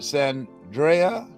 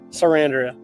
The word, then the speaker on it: Sarandria: I have a special guest today, Anthony am I pronouncing it Sandria? Sarandria. Sarandria. Anthony Yes, Sarandria.